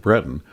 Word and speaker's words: Breton: drive took the group to Breton and yes that's how you pronounce it Breton for a tour of